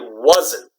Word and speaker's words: wasn't: okay so if I wasn't I wasn't wasn't wasn't one syllable okay no Watson - okay again this is a Z sound I wasn't I wasn't